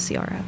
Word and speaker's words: Ciara: Sier era this but it's spelled like I was projecting your name onto it this entire time you were it's pronounced Sara.